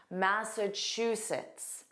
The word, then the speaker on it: Massachusetts: So notice here the sound you hear the most is chew. Chew. Just like the verb chew. To chew. Or you can think of a train. Choo choo. And the N part is pronounced as an unstressed sits.